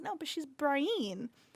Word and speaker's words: Brienne: Like Brienne on the show, like for me, Brianna.